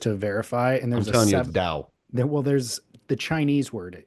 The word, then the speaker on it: Tao: I'm sorry, T AO, right? Uh okay. How do you pronounce it? Because in really it's supposed to be dao. That's how you actually pronounce that word is dao.